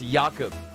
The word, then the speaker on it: Jakub: touch there from uh are we pronouncing it yaakov i know in the pre-game he came in here asking for a different person i believe it's jakub apologize for the pronunciation